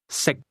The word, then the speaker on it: 食: Sick. How do you say can sick? The difference between the two is that can is spoken with a highle tone and to eat is pronounced at a low level.